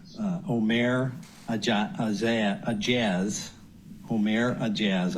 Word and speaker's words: Ourmair Aejaz: a a a Jaz om a jazz I believe is the pronunciation 37-year-old Rochester Hills president